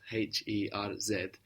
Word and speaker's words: Herz: This is why you have Herz for heart in German, which is spelled H-E-R-Z. Z in German gives us ts, Herz, and heart in English.